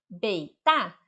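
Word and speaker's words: 北大: Então, se você estiver na China e você encontrar esse bloquinho aqui, Beita, ou alguém pronunciar Beita para você, você pode ter certeza que ele está se referindo à Universidade de Pequim.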